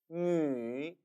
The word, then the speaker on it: 女: 女, 女. 기억하십니까? 중국어 모음에 있어서 위 모음은 한국어의 위와 달리 처음부터 끝까지 입술이 움직여서는 안 된다고 했죠?